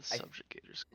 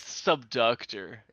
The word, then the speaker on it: Subductor: Is this the subductor squad or the subjugator? It's subductor.